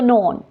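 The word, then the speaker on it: known: क्या है साइलेंट है अब नीचे जाएं तो नोन नोन केस में भी साइलेंट है नाइफ नाइफ अब इसमें भी के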